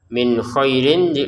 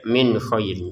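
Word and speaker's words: مِنْ خَيْرٍ: Min khairin nun sukun bertemu k kita baca dengan jelas ya. Min khairin. Jadi jangan min khairin gitu.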